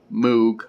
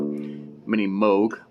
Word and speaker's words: Moog: that's the proper pronunciation, because you don't pronounce moog with two O. Well, it is spelled with two O's, but it's pronounced with a long O sound, so mini moog.